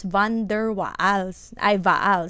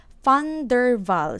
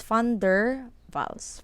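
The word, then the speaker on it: van der Waals: don't pronounce this as van der whoa this is fun durval snow so this one you pronounce it as f so funder funder Val snow it's not wonderful its funder Val's funder balls for this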